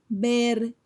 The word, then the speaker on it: vergüenza: diéresis, which are just two little dots over the U to pronounce the U between the G and a vowel like E or I.